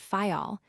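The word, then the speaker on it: Fayal: Therefore, we steered for the nearest island of the group fail. The people there pronounce it fol, and put the accent on the first syllable.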